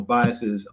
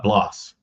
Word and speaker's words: Bloss: you know, Bias's um am I am I am I pronouncing this right? It's uh Bloss Bloss. Okay, I'm saying Bias Bloss